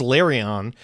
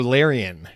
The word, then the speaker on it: Larian: Firstly, you pronounce Larion. You might be right, but I've always heard Larian. Listen, Larian, the fucking Baldur's Gates guys.